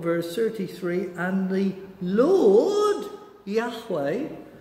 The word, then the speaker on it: Yahweh: the lord who's that that's yahweh jehovah as we used to say when we didn't understand how they pronounced words that we put a jay on it's jehovah it's yahweh said to him it's